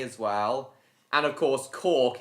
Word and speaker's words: Cork: And of course, Cork is easy to pronounce because it's just like a bottle cork.